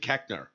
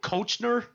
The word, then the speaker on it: Koechner: The O-E is not a short E sound, but that's the way we say it.